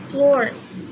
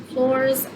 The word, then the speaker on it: Florz: to do is um floors floors i think that's how you say it because i like i'm still practicing how to say i think it's floors um it's spelt f l o r z so yeah i think